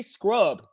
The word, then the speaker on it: Scrubb: A guy named Jay Scrubb. You can't make this up. His last name is spelled SCRUBB, Scrub.